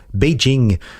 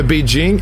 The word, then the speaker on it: Beijing: Parce que Beijing, en soi, c'est une manière très occidentale de prononcer les pictogrammes associés à ce qui signifie en chinois « capitale du Nord ».